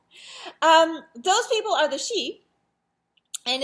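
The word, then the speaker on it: síd: those people are the she and it's spelled a few different ways i spelled it like the sort of most common spelling i think your book only says s-i-d but it's pronounced she and it's people like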